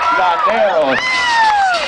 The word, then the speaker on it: Landeros: Landeros. It sounds sexy just saying his last name. It rhymes with Banderos.